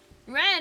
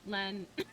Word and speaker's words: Len: like, Just oh, it's it's spelled Lin and Ren, and it's like, no, it's Rin and Len.